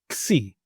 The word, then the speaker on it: xi: If we take a K, S, and I from the English alphabet and we say it together, we will say the name of this letter. So that will be Xi.